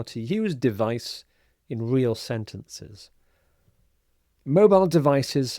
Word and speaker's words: device: So, here's the first of the 20 words, and it's device. Device. So you'll notice when I say it, the stress is on the second syllable. Vice device.